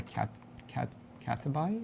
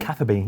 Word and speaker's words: Catherby: bit further, I remember trying to fish in Cataby, is that how you pronounce it? Catherby.